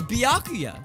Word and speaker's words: Byakuya: believe ever am I saying it wrong it's byakuya right that's what that's what he said byakuya it's what he